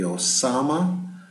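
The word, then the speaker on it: Ozama: Yuna the Y de the Osama but oh that's a scary name but uh it is spelled o z ma the Camu the Nissa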